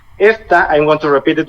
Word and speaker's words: esta: For example, as I said, this is pronounced esta. The tonic syllable is es.